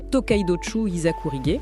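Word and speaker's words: Tōkaidōchū Hizakurige: Ça se prononce exactement Tokidochu Isakourige.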